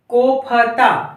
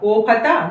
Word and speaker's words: कोफ्ता: कोफता। कोफता नहीं, कोफ्ता। क्या है? कोफ्ता। फा में आप देखिए बोलकर, कोफता बोलकर देखिए और कोफ्ता बोलकर देखिए।